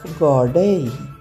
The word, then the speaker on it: ګاډۍ: ګاف ګاډۍ. وګورئ دې ګاډۍ ته، دلته ګاف د الف سره راغلی، ګا تلفظ کیږي.